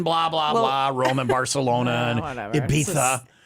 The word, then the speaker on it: Ibiza: blah blah Roman Barcelona Ibiza how do you say the island we're going to Ibiza or as they say it in Spain Ibiza that is what you